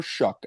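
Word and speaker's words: Shough: I truly think Tyler Tyler Shuck, I know, strange name. S H O U G H. It's spelled like all Shucks.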